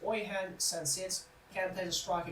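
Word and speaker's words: Oihan Sancet: Then, moving on to our attacking midfielder, I think it's pronounced Oyhan Sanset.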